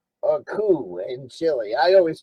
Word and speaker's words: coup: On September 11, 1973, the uh US stages a coupe or coup in Chile. I always pronounce it coupe.